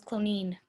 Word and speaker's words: Cloneen: Matter of fact, it was Cloneen. Ireland seems to have an inordinate number of towns and villages whose names rhyme with spleen.